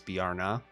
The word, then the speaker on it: Bjarne: Oh, it's Bjarne? Okay. Bjarne. That makes sense. Ah. If I got the first name, not bad, right? You know, we're going for it. Bjarne.